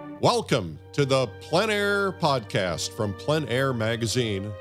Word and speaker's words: plein air: PL a painting for those who don't know PL a in French essentially means Outdoors the French pronounce it PL a others pronounce it plain air but no matter what you call it there